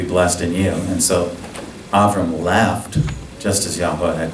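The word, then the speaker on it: אברם: In the Hebrew, his name is pronounced Avram or Avraham.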